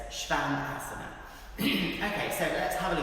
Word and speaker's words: Shvanasana: So that's a really common mistake in pronunciation, so it's Shvanasana.